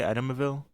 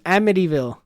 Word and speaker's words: Amityville: whatever you're actually making Amityville amille edville why are you adding extra syllables amdy AMD idville don't try a AB just say a no we're we're we're gonna get it down am one more time